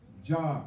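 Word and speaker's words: جار: J we're going to spell it j a r like a jar jar I'm going to say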